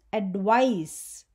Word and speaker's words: advice: The second one is advice. It is a noun and it rhymes with ice in pronunciation.